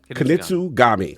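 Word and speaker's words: Kunitsu-Gami: I already pronounce it, but actually. Yeah, something Gagey. Kunitsu Gami.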